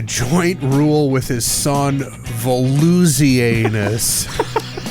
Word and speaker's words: Volusianus: In a joint rule with his son Volusianus. So there's bony anus and floozy anus. Volusianus. Thank you for clearing it up.